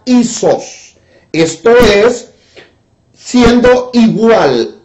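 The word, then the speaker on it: ἴσος: que quiere decir quiere decir a esos se pronuncia y sos esto es siendo igual y sos ahora cuál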